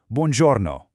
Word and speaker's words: buongiorno: Start with buon, sounding like the English word bun, and then giorno, where the G sounds like the J in journal. Buongiorno.